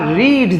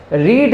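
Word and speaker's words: read: দিকে থেকে পাল্টে গেছে রিড লেখা থাকলেও এর উচ্চারণটা রিড আমরা করবো না কি বলবো রেড বলবো কারণ এটা ভার্বের third form রিড রেড রেড স্পেলিংটা একই থাকে উচ্চারণ পাল্টে যায় ওকে তো দ্যা বুক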